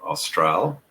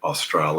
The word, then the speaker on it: australe: what I tend to do is even though I'm an English speaker, I tend to use the French pronunciations because somehow it seems